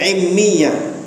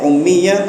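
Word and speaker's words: أمية: Ya, bisa juga dibaca immiyah. Jadi dua cara bacanya, ummiyah atau immiyah, sama saja.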